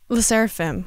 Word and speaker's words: LE SSERAFIM: Les SSERAFIM.